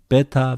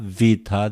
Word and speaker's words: Beta: Aleph, Alpha, Beit, Beta, Vita, okay, alphabet. There are names for each letter, okay, but the names are not so important. Alpha, Vita, this is the way in Greek.